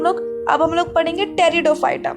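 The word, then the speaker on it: Pteridophyta: अब हम लोग पढ़ेंगे टेरिडोफाइटा। P silent is here.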